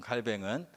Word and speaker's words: 칼뱅: 존 칼뱅은 칼빈이라고도 하고 영어식 발음, 동의식 발음 깔뱅이라고 하는데 종교개혁자예요.